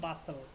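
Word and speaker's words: bustle: বাস্টেল বলি কি বলি বাসল কারণ টি এর উচ্চারণটা এখানে হবে না এখানে অনুচ্চারিত থাকবে বাসল বাসেল মানে কি অতিশয়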